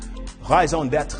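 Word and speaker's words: raison d'être: if you hadn't already guessed by my superb pronunciation skills highs own deaths it's French and it means reason for being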